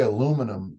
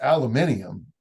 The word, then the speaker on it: aluminium: We say aluminum because it was a written word to the United States, and so it's aluminium, but it was written that way.